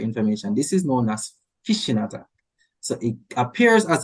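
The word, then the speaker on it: phishing: fing but whatever it's called fishing is not feing whatever however people pronounce pronoun fishing spell pH is actually pronounced fishing yes so fish was actually on the rise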